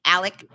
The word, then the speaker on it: Alex: At the head of these snakes were Alex, and how he pronounces, it's not Alex, even though it's spelt Alex. It's pronounced Alec.